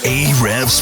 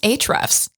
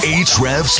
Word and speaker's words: Ahrefs: Ahrefs Podcast. It's actually pronounced Ahrefs. Oh, sorry, my bad. Let's do it again. Ahrefs Podcast.